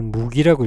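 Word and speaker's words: 麦: 이걸 무기라고 읽습니다. 무기.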